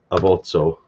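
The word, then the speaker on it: abots'o: In Esper, you would spell that A-B-O-T-S apostrophe O, abotso.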